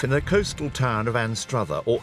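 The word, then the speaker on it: Anstruther: But it kicks off in the coastal town of Anstra or Aster as the locals pronounce it.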